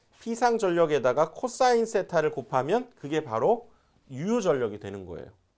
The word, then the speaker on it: VAR: 그래서 여기에서는 단위가 VAR 그래서 바라고 읽습니다.